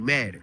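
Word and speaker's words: Maden: Madden is spelled is M A D E N. Like the game like Madden.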